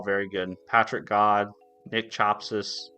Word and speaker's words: Chapsas: Patrick God, Nick Chopsis. I think I'm saying his name right. I could be saying it wrong, but it's Nick Chapsas, and then Tim Corey.